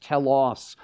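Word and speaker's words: τέλος: end in Romans 10:4 it's pronounced tellos and it doesn't mean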